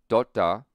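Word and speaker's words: तोता: Deban John Dutt says, if you get the difference between blunt letters and sharp letters, you'll get a lot of words correct in Hindi. Tap has a sharp T. Tota, parrot, has a blunt T.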